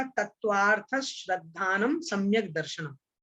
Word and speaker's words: तत्वार्थ: तत्वार्थ श्रद्धानम सम्यक दर्शनम, ठीक है। तत्वार्था श्रद्धानम नहीं बोलना है, नहीं तो लोग बाग